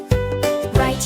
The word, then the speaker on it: write: Write your name and wrap a gift. W is silent, feel the shift. Wrong and wrist, just let it go. Say the sound you really know. Write, wrong, wrist, wrap, skip the W.